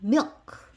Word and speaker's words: milk: 모음이 없기 때문에 그래서 원래는 여기를 세게 읽으면 뒤에 크자가 거의 사라집니다. 그래서 milk 이렇게 세게 읽으면 좀 과장돼서 세게 읽으면 우유라는 단어가 됩니다.